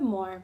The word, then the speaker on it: Moher: read to you today's more on the Cliffs of Moore The Cliffs of Moore pronounced more are located at the